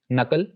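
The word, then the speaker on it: knuckle: के के बारे में रूल्स ये हैं कि के इज not pronounced before N एट the beginning of a word, यानी अगर किसी वर्ड के शुरू में के एन से पहले आ जाए तो वहां पर के विल बी साइलेंट, बस एन प्रोनाउंस किया जाएगा।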